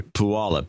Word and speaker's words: Puyallup: 5510 Sean Gates and poyap uh I'm Puyallup is the way it's pronounced by the way to Wallop Washington 5510